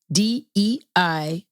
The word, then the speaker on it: Deida: D-E-I-D-A. David, D-E-I-D-A. Deida.